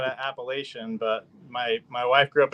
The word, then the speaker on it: Appalachian: Appalachian. Appalachian. That's from my neck of the woods. Say it again. Yeah. Say it again. Appalachian. Yeah. Where I grew up in Utah, we said Appalachian, but my wife grew up in Virginia.